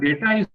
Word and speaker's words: data: common mistakes the word data is plural pronunciation is with a long a is in April children people already plural